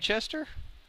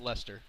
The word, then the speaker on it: Leicester: team that kind of light Chester yes oh that's pronounced Lester whatever he could have